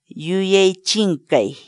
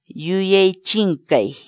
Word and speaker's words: yuyay chinkay: série de vídeos onde nós ensinamos você a pronunciar determinadas palavras em Quechua. Portanto, a nossa palavra do dia para hoje é... Yuei Chinkai. Yuei Chinkai. Yuei Chinkai.